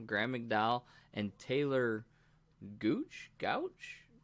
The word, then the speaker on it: Gooch: keimer kevin nah graham mcdowell and taylor gooch gouche how do you say it gooch no taylor gooch okay you ain't heard taylor gooch i haven't